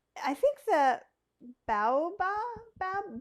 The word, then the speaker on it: baobab: Banana, non-GMO soy protein, cold brew, cashew, grape, apple, cocoa, zucchini, chia protein, spinach, orange, lemon, natural vanilla, baobab, all the things I can't say.